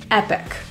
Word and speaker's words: epic: rather than a tea Epic this describes something that is Grand extraordinary and impressive the concert was absolutely Epic the I in this word is pronounced as a lower pronunciation if you find yourself